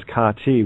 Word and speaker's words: Kate: My name that's right my name is see care all right my uh my name uh Kate pronounced properly is kati which is ka Egyptian